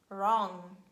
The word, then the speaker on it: wrong: the beginning of words we pronounce only r sound and we say right wrong wrinkles wrist rap and again some exceptions